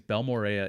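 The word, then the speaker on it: Balmorhea: But I was down there for I think I'm going to say it right, Balmorea. I thought it was Balmorea, but it's not. So I think it's Balmorea.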